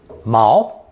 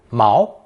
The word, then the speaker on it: 毛: Pronounced second tone, mao, mao.